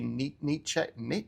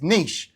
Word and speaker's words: niche: You are your niche, or as the Americans say, niche. What the heck is that about? It's niche.